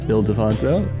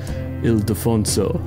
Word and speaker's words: Ildefonso: Okay, so yeah, if you're an American, you might pronounce it Ildefonso. If you're global or speak Spanish, Ildefonso.